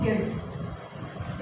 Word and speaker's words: guilt: GUILT क्या पढ़ेंगे हम इसको, आई वॉवल हमारा, यू हमारा क्या हो गया साइलेंट, तो क्या पढ़ेंगे इसको गिल्ड।